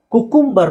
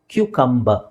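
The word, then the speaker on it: cucumber: ಪೀಪ್ಸ್ ಅಂತ ಹೇಳಿದ್ನಲ್ಲ ನೆಕ್ಸ್ಟ್ ಇದು ಕುಕುಂಬರ್ ಅಂತ ಹೇಳ್ತಾರೆ ತುಂಬಾ ಜನ ವಿಚ್ ಇಸ್ ರಾಂಗ್ ಕ್ಯೂ ಕಂಬ ಏನ್ ಹೇಳಬೇಕು ಕ್ಯುಕಂಬರ್ ಏನ್ ಹೇಳಿ ಕ್ಯೂ ಕಂಬ ಕ್ಯೂ ಕಂಬ ಕ್ಯುಕಂಬರ್ ನೆಕ್ಸ್ಟ್ ಟೊಮೆಟೊ ಅಥವಾ ಟೊಮಾಟೊ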